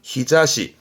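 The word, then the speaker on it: 日差し: 발음은 히자시. 이때는 니골이 붙어서 발음이 히자시.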